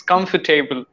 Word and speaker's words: comfortable: learned few words like I used to say comfortable okay comfortable but it's comfortable okay there are not four syllables comfortable yeah yes yeah three syllables are there so syllabus are really